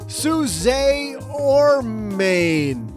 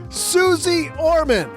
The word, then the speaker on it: Suze Orman: you because today we welcome to the basement Suz or Main. What? What do you mean that's not how you pronounce it? Oh, Suzy. Okay, got it. Got it. As I was saying, Suzy Orman.